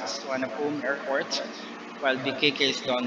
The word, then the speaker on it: Suvarnabhumi: So BKK is Suvarnabhumi, it's pronounced as Suvarnabhumi Airport, while BKK is Don Mueang Airport, or a national.